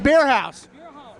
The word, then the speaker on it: Bierhaus: of your company Northwest bierhaus jerky just beer house that's a German thing bierhaus good house all